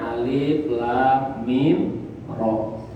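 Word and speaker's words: المر: Alif, lam, mim, ro, ia bacanya alif, lam, mim, ro.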